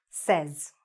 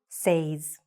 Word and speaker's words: says: The mistake usually happens here because it should be I say, but he says. She says. All right? It says. So it sounds a little bit more like, right? Says, not says.